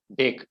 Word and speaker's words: bake: Bake. Bake is how we pronounce it. Can you read it again? We can bake breads in an oven. So it's not back, it's bake. B-A-K-E is bake.